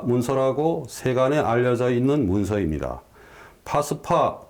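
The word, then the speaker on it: Phags-pa: 파스파 또는 저는 티베트어로 팍바라고 읽습니다만은 이 문자는 몽골의 5대 황제, 중국의 묘호로서는 세조라고 하는 후빌라이 한이 1269년에 만든 문자입니다.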